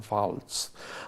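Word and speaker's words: Waltz: un actorazo christoph baltz es que con w Pero cómo sale más se pronuncian Falls Bueno pues este hombre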